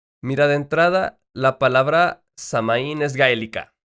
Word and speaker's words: Samhain: años tenía una tradición llamada samaín imagine samhain digo la pronunciación si tiene que ser forzosamente diferente pero así se escribe significaba el final del